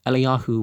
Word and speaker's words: Eliyahu: Well, if Elijah was to come in the, you don't pronounce the J, if Eliyahu was to come in